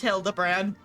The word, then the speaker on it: Hildibrand: Since pot and ways of searched every alley and dive bar and ever keep signs of this fan grand character, it's pronounced Hilda brand.